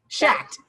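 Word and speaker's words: Schacht: She's written for Interweave, the word I can never pronounce, Shacked. There you go. I always want to put an N in it. It's like snack.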